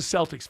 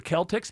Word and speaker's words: Celtics: You became a Celtics fan. I can understand that. can't understand why they're not called the Celtics because that's how it's said every other time, but they're the Celtics and you're a fan.